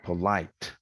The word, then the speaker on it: polite: For example, polite, polite, full vowel, longest, loudest, and high in pitch.